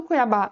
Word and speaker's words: Cuiabá: Pessoal, qual que é a sílaba mais forte dessa palavra? É o ba, ou seja, a última sílaba. Então, pessoal, de fato Cuiabá é uma palavra oxítona